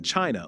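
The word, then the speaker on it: qi: Acupuncture is a practice that originated in China over 2,000 years ago.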